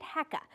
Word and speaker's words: HECA: its name is controversial we have long called it hecka but recently that pronunciation has become contentious so for the purposes of this story we'll call it what the developer calls it hea short for hydrogen energy California 23 miles west of